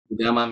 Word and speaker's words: Udama: It's UDAMMA. UDAMMA. Wow. Yes. Right. It's really called Udama in the language.